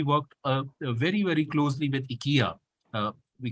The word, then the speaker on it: IKEA: And my professor was Swedish, like I said, so he insisted on calling IKEA IKEA, because he insisted that that was the correct pronunciation and it cannot be said in any other way.